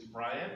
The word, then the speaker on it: Bryant: Bryant. Am I pronouncing that correctly?